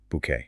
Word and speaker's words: bouquet: Inside is a gorgeous fresh bouquet. Bouquet. That is a tricky word to spell for learners. It is a French loan word. B O U E T. Bouquet.